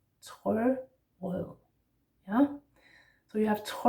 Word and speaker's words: Trørød: Trørød. Yeah? So you have trø, remember that R's in Danish are in the throat, or at least those that we do pronounce, like that.